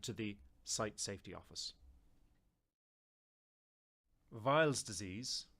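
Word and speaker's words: Weil's disease: the site Safety Office vials disease sometimes pronounced as wheels disease or wires disease is an acute infectious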